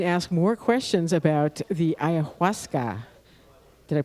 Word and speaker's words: ayahuasca: And you can ask more questions about the ayahuasca. Did I pronounce that correctly?